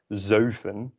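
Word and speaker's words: zeven: worth noting is that sometimes number seven is pronounced as zofen by some dutch speakers i don't think that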